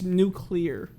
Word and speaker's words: nuclear: nuclear oh it's not there's no u there's no second u it's nuclear nuclear yeah there is